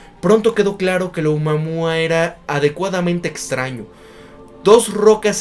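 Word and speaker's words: ʻOumuamua: Esta anomalía especial se llama Oumuamua, pronunciado como O-Mo-U-Mo-U, que en hawaiano es mensajero de lejos que llega primero.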